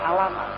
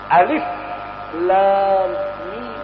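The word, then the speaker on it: الم: Walaupun dia berharokat pada di atasnya, tidak dibaca alamat. Alif lam mim.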